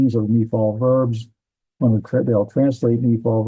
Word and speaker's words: Niphal: Well, Ni is right here. Ni and fall. So, and that's how you pronounce this word, Niphal.